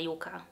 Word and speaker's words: Yucca: Natomiast w samych spotach marketingowych Natasza mówi to jako Yuka, plus wydaje mi się, że po polsku my też na tą roślinę mówimy Yuka. Dajcie mi znać, jeżeli jest inaczej, natomiast ja zawsze pamiętam wymowę Yuka, przez J oczywiście i K po polsku.